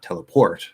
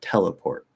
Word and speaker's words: teleport: the primary stress so in teleport the primary stress is on the tet and then port is not a stress it's not teleport or it's teleport teleport so you can still hear that it's not teleport teleport port that's like a little